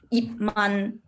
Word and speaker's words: Yip Man: But I have some students, they will have a problem, like they will always say yip. They will always pronounce the P really loud. But you don't need to. No matter there is T behind or M behind, you don't need to pronounce that loud. Just yip, close your mouth.